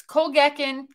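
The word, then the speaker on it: Colkegan: It's Kolgekin.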